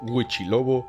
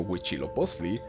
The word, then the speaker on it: Huitzilopochtli: no nos pronunciemos ansí los españoles los conocían al no poder pronunciar huitzilopochtli idescat época los conocían como gucci lobo y pesca típica pero no me empezó